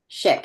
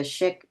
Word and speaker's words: Szyk: Polish Jewish artist Arthur shik it's pronounced shik even though it's spelled s z YK I'm the